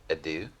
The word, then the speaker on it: adieu: Adieu?